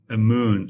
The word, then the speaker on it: Amun: the name come from or how do you pronounce it yeah a moon a moon is indeed the egyptian god of